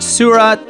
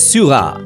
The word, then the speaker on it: Seurat: painters in art history it's george surat and paul siniak or as the french pronounce george's surah and polsiniak if i'm not pronouncing them right please excuse my french even picasso made some